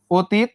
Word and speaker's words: অতীত: অতীত প্রথমে একটা কি ছিল? অ ছিল, তারপরে এই যে দেখো কি যুক্ত ছিল, এটা দীর্ঘই। এই যে অর সঙ্গে যদি দীর্ঘই যুক্ত হয়, উচ্চারণটা কিসের মতো হওয়ার কথা? ও এর মতো হওয়ার কথা। তাহলে এই ওটা কি হয়ে যাবে? ও হয়ে যাবে না? হ্যাঁ ও হয়ে যাবে। এরপরে দেখো তয়ে রস্বই আর ত, অতীত। ব্যাপারটা কি ক্লিয়ার? আমরা আসলে জাস্ট বুঝতে চেষ্টা করতেছি। এই অটা উচ্চারণের সময় ও হয়ে যাবে।